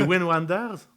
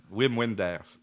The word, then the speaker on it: Wim Wenders: prononces mal, mais on va l'accepter. C'est Wim Wenders? Wim Wenders.